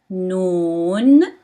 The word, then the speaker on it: نون: Noon, noon.